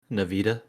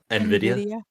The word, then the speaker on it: Nvidia: and then thank you what'd i say nevita and how you pronounce the right name nvidia nvidia nvidia nin video n and video video video and video yeah and video there you go and video graphics